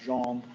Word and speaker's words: Gene: know if you know Gene would be pronounced Jean in French so I just because which sounds a lot like John so um I looked and